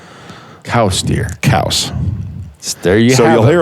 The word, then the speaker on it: Coues: / French pronunciation of his last name is cows like house cows deer cows there you'll